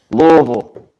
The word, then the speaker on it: Louisville: Yeah, and how do you say Louisville? Louisville. Oh my God. He says it right.